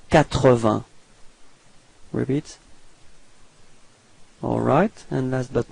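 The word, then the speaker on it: quatre-vingts: Alright, so final S, T and G are not pronounced. Okay, and then remember that Q and U give you the sound k, so you get 80.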